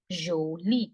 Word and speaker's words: jolie: Pretty is jolie. Jolie. The sound of J is not J. This is J sound. J. J. Okay.